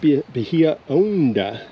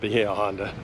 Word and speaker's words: Bahia Honda: the state park, and it's pronounced Bahia Honda in Spanish. I spent a lifetime as a kid, way back when. We always called it Bahia Honda.